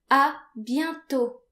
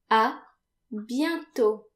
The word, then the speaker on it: à bientôt: If you plan on seeing that person again, you can say à bientôt. À bientôt. This means see you soon. À bientôt. And again notice that the final T is silent.